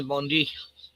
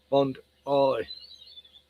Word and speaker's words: Bondi: It was all a Bondi Bondi Bondi as the Americans say Bondi. Yeah. Well, we know all about that shenanigans. Uh No need to discuss anymore about Bondi. God the amount of times I told Americans it's bond I say I like you